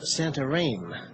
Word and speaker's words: Santarém: Here is Santarém, sometimes pronounced Santarém, one of the ports we come to as we journey up the Amazon.